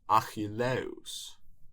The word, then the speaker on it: Ἀχιλλεύς: It's Achilleus or Achilles.